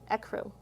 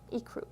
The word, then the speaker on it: ecru: had to look this one up e crew ecru ecru ecru i forgot see we don't even know all the pronunciations here hazel khaki khaki is if you're